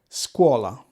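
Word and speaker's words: scuola: sure you demand one squala see again we're not saying scha we're saying squa it's a C Sound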